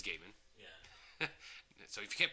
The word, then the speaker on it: Gaiman: she hated number one she kept pronouncing his name Gman right it is Gaiman yeah so if you